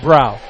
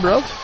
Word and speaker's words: Brow: I got it it's it's gross with a b or throw with a B it's anything that rhymes